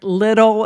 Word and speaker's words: Liddell: But, just the story of Eric Liddell, is that how you pronounce his last name instead of Liddell? It's Liddel.